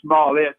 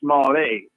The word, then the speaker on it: Smollett: juice a juicy and he's now saying not small it but small a so it's juicy Jesse's